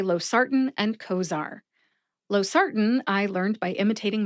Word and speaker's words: Cozaar: Cozaar only has 2 syllables. Co like coworker and zar like a high-level official.